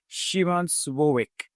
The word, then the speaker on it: Szymon Słowik: the CMSO conference 2025 and his name is Shiman Suik. Did I pronounce it right?